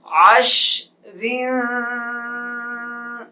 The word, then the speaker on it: عشر: وقف میں را موٹی ہو جائے گی. جب اس کے ہجے کریں گے رواں پڑھیں گے تو را کے نیچے زیر ہیں اس لیے باریک پڑھیں گے. وقف جب را ساکن ہوگی تب موٹی ہوگی.